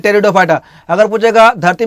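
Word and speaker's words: Pteridophyta: टेरिडोफाइटा में आपको याद रखना है पी साइलेंट होता है, टेरिडोफाइटा इस तरह से लिखा जाता है, ठीक है।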